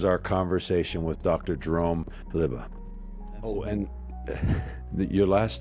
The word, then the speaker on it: Lubbe: you can call me lubby or or or Jerome honestly I'll respond to I've been called a lot of things so um liba is the technical pronunciation liba mhm wonderful uh I'm